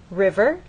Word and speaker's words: river: River, you'll either hear people speak or you'll look in a dictionary and understand that the first syllable is stressed, river.